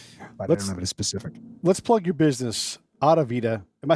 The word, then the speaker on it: Audivita: business for example specific let's plug your business out of vita am i saying it right adevida yes you are okay good i got it